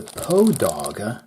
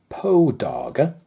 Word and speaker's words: Poedagar: is poe dog and I presume that that name may be related to the famous short story writer Edgar Allan Poe as his name pronounced backwards sounds like the name of the watch so this is my